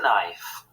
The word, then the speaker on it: knife: And a butter knife. Yum, yum, yum. Good girl, Geraldine. Knife has got a silent K at the start.